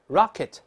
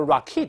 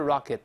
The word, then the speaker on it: rocket: 这个词名词动词重音都在前面，动词也不能读 rocket，它不能这么读，还是 rocket、哎。